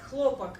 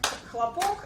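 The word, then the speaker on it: хлопок: and uh in Russian we have two words that spells uh the same they have the same spelling but they have different pronunciation we have clopak as a um as a material and we have Club as a sound as a clap so the difference is in uh stressed syllable uh and on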